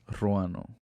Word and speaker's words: Ruano: My name is Ruano. My name is Katerina Sergeyevna Zhukovskaya. And my name is Ruano. Okay. They gave me an English name. But you got to roll your R.